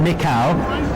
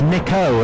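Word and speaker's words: Nikau: It's not Nickau, it's Nico, and bearing in mind how tall he is, he can be Nico.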